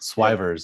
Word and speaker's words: Swyvers: How do you pronounce it? Sawyer's, Swyers. I Swyvers. will Swivers. Yep. Swivers.